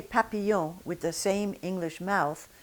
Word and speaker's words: papillon: Now say papillon with the same English mouth that you have